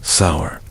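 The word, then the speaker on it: seiðr: Metamycet relied on magic, specifically a mysterious practice called cider, pronounced sour, which was part sorcery, part spiritual therapy, and part my ex want, return my runes.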